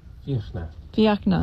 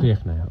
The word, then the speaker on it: Fiachna: And I'm going to have to ask you to pronounce Figgy. How do you say your name? Fiachna. Fiachna.